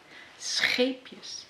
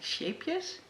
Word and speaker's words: Scheepjes: It's a really hard G, and I can totally understand that you in French wouldn't be able to really pronounce that, and it would be more something like shapejes, but it is pronounced as scheepjes.